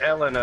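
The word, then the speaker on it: Helena: It's pronounced Elena. Elena. It's pronounced Elena now, since that's how the dub says it. Yeah, either Elena or Elena. Like the H is silent, because French people, I guess.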